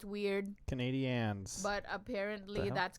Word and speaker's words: Canadiens: And yes, it's pronounced Canadiens. I know it's weird. Canadiens.